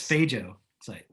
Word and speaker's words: phagocyte: It's I'm just kidding around, but seriously, there's a thing called phagocyte, and what it is, I think it's phago site.